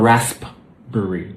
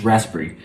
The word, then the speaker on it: raspberry: And then we have, this will be raspberry. Now, it's slightly different because the P disappears. It's not raspberry. No, it's raspberry. Because raspberry is too difficult to say. So we just skip the P.